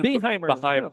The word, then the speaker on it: Beheimer: How do you say that again? Beheimer. Beheimer. Beheimer, like a Beheimer.